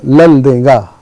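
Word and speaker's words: Laldenga: मैंने उनसे पूछा कि लाल डेंगा जी मिजोरम के जो मुख्यमंत्री थे, मैंने उनसे पूछा आपके नाम का सही उच्चारण क्या है? बोले उसका उच्चारण लल देंगा।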